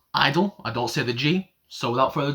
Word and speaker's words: (G)I-DLE: I've been told that these guys are pronounced idle eyeball Sivaji so without